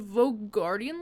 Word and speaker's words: Vogardian: It's a special kind of Vogardian lock. But right? I said it right. Yep, that's right.